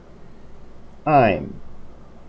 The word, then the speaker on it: I'm: La palabra I'm, que viene siendo esta de aquí, esta se pronuncia diciendo así. I'm. Ok, porque muchas veces nomás dicen I. Asegúrese de que suene la M, diciendo I'm.